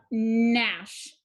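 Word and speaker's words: gnash: move down we have nash digraph gn cross out the ghost g the a is short it needs a brevi and sh is also a digraph to underline nash you don't pronounce the g and finally we have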